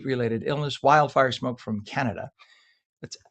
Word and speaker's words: Canada: Canad, as it's pronounced in French, canad.